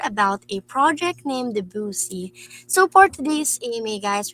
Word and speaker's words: Boosey: Is it Boosey? Am I correct with that? Yes, it's Boozy.